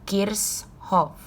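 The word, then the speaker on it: Kirchhoff: hai hai Hai Kirchoff atau sebenarnya pelafalan yang benar itu adalah kirsch hop Kids Shop gift shop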